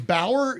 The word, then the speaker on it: Bauer: Matt says, was Bauer your friend? Shut up. Here he goes. He goes, that's the sound of the rooster, okay? Was Bauer your friend who was on before Vic?